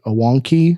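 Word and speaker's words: Awanqi: she goes by uh i want to pronounce it wonky so a-w-a-n-q-i um and that's that's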